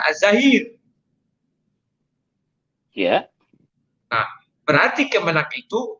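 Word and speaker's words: الظاهر: Dibilangnya engkau adalah az-zahir, tidak ada sesuatu pun di atasmu. Engkau adalah al-batin, tidak ada sesuatu pun yang berada di balikmu. Makanya saya katakan ini yang benar az-zahir.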